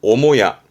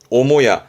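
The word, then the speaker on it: 母屋: 럴까 우리는 안체라 그러죠 그럴 때 발음은 오모야 오모야 좀 특이하게 특별 음으로 갑니다 오모야 요거는 숙자 숙모 모니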